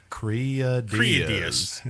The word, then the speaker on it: Kriadiaz: One of the dudes with the most access to the band and interviews and all that is mispronouncing the name. Say it with me now. Kriadiaz.